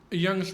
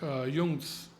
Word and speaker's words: Young: And the other point is Young's theorem and actually it should be pronounced Yung's theorem.